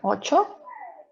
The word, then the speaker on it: ocho: pronunciation so also so if you see the cnh it's something we pronounce chi so it sounds like ocho and also if you